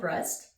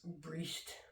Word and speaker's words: Brest: There's really no other way to say that last name, but just to be clear, it's spelled Brest. So if you know of another pronunciation, please feel free to let me know. And if I did pronounce it wrong, I apologize. Breast. That's definitely not the right way to say it.